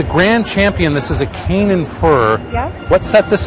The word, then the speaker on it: Canaan: This is a Canaan fir. Yep. What set this apart from all the other trees in the competition? Sometimes pronounced Canaan Oh, fir. Canaan, okay. Canaan is perfectly correct as well.